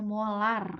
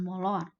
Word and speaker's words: molar: pangkat negatif 2 molar m itu dibacanya molar ya bukan molor sesuai Hai Nah Bu